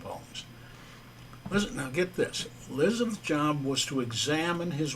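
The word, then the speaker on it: Elizebeth: It was at Riverbank that Elizabeth, and her name was spelled Elizabeth with an E and Elizabeth with an A, but the preferred pronunciation was Elizabeth with an E.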